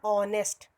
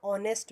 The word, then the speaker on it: honest: And honest, h is silent here and o is there, so o sound is coming, so honest man.